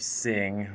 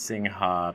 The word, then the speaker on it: Singha: who come to southeast asia they're aware of sing which a lot of people mispronounced singha beer in thailand and beer chong which most